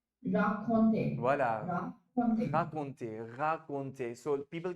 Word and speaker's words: raconter: raconter? Raconter. Voilà, Raconter. raconter। So people get confused between the two। This is rencontrer, rencontrer ऊपर वाला, नीचे वाला है raconter, raconter।